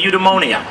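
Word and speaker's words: eudaimonia: term for it that's spelled and pronounced phonetically udonia and others know how to pronounce that in a more Greek way but after they had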